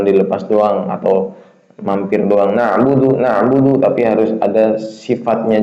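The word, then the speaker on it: نعبد: Na'budu ya satu harakat sifatnya. Na masih jalan artinya masih jalan. Na bunyinya kayak gitu. Enggak boleh na'budu makhrajnya benar tapi tidak dipakai sifatnya. Cuman na'budu na'budu jangan cepat-cepat ya.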